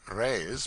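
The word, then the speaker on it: réis: the Portuguese pennies or Rays pronounced rays are prodigious it takes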